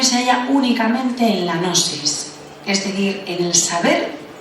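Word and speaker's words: gnosis: una palabra griega que que es nosis se escribe con g g n o s i s nosis nosis en griego significa conocimiento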